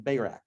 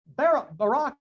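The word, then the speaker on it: Barak: okay deborah and barack i grew up calling him bayrak but barack is the correct pronunciation judges chapters four and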